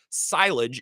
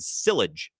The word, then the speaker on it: silage: Someone texts in and say, yeah, we're cutting silage. And this knob said sillage.